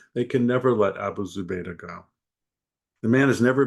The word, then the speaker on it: Zubaydah: Is it Zubaydah? Is that how you pronounce?